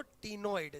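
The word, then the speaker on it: ctenoid: एक होते हैं बोलो टिनॉइड। सी साइलेंट होता है।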